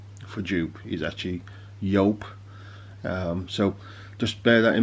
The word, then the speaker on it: Joop!: we're having a review on you go or yelp as it should be said what a lot of people do especially in the uk call it jup so for that reason i'm going to call